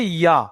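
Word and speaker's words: ي: আর শিন উচ্চারণ হয়, তেমনি ভাবে এই ইয়াটাও জিহ্বার মাঝখান ও উপরের তালু হতে ইয়া উচ্চারিত হয়।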